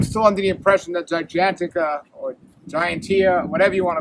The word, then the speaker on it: Gigantica: The good thing is it's a season right after the Gigantia, or the Gigantica. That's the way to pronounce it, Gigantica.